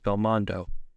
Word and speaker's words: Belmont: Indiana Jones and finally the Japanese pronunciation of bont is Belmond does a reference to Jean